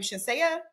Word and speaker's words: Shenseea: I think you pronounce her name Shenseea or Shenseea. I always want to say Shanessa, but I know it's not.